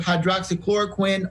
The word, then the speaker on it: hydroxychloroquine: look at it again, hydroxychloroquine. Is that it? Right. You're saying it correctly.